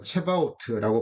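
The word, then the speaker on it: Sabaoth: 번째 말씀은 만군의 여호와입니다 여호와 사바오트 뭐 체바오트라고 발음도 하기도 하는데 하여튼 여호와 사바오트라는 단어입니다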